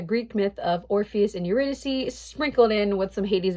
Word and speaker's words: Eurydice: it in school but he pronounced eurodice and I don't know man they say eurydice in the musical so I'm gonna just go buy that don't cover me for the pronunciation I am not Greek I am so sorry